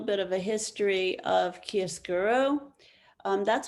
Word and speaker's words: chiaroscuro: you a little bit of a history of kiesguro that's how you pronounce it it was um developed and perfected